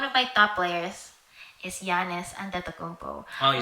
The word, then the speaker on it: Giannis Antetokounmpo: Oh, I don't know if he's still my favorite, but someone like one of my top players is Giannis Antetokounmpo.